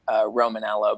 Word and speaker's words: Romaniello: His name's John Romanello, but it's spelled like Romaniello.